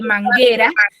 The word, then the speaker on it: manguera: Si no me suena la vocal, por ejemplo, en el caso de manguera, tengo manguera, tengo tres sílabas.